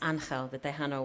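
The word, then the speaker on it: Ángel: me to The Undertaker his name is Angel pronounced anel way I want to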